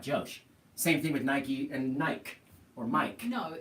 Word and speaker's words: Nike: but that you know Nike pronounces it Nike you have to pronounce it however they say that's like you know